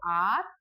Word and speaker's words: hour: हमें क्या करना है, एच को साइलेंट रखना है. तो आर, ऑनेस्ट एंड ऑनरेबल.